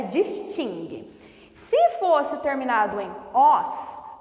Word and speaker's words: distingue: distingue duas palavras distingue não distingue Ok a pronúncia correta é distingue se fosse terminado em Oz também receberia acento